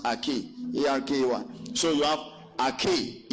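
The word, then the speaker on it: ἀρχή: Arche. You understand? Pronounced Arche.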